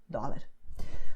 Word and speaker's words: dólar: What you do is when you pronounce the letter D, your tongue is doing all the work, okay? So you just have your tongue, which is inside your mouth, and it's aiming for the front teeth.